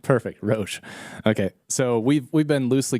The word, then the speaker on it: Roche: Well, it's funny because my mother pronounces it just like you did. Yeah, but okay. My dad used to say Roche. Roche? Yeah. What's your preference? How you said it is perfect. Perfect, Roche.